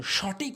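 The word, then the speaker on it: ثاء: সা, জিহ্বার আগার সামনে দুটি দাঁতের আগাতে লাগাবেন। জিহ্বার আগা ভালো করে বুঝবেন, জিহ্বার আগাটা নিয়ে সামনে দুটি দাঁতের আগাতে লাগাবেন, সঠিক উচ্চারণ হবে সা, সা, সা।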